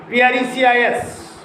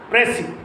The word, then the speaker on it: precis: Similarly, precis, P-R-E-C-I-S, precis, not precis. It is a French word, remember it. And if you call it a precis, it is right. And if you call it precis, it is a wrong word.